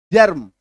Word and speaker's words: germ: र आता है तो र का उच्चारण पूरा पूरा मत बोलना, ठीक है। जर्म, ठीक है, सोच के देखो, अभी मैं दो तरीके से बोलूंगा, GERM, एम आर जो है बीच में, जर्म, जम, कौन सा अच्छा लग रहा है सुनने में?